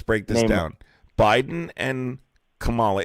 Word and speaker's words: Kamala: Biden and Kamala, it's Kamala, by the way, just to correctly say her name, are a lot less worse?